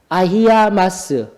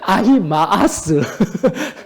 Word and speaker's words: 아히마아스: 왔을 때 사독의 아들 아히아마스, 아비아달의 아들 요나단 해서 사독과 아비아달은 압살롬 때도 제사장으로 섬길 수 있도록 보내고 난 뒤에 요나단과 아히아마스가 응? 예, 용서해 주세요. 발음이 안 좋아서. 아히마아스. 예, 바로 잡아주셔서 감사합니다.